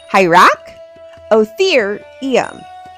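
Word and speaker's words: Hyracotherium: Hierra Otherium.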